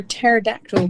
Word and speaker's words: pterodactyl: can't you hear a pterodactyl go to the toilet Matthew why because the pee is silent right I will leave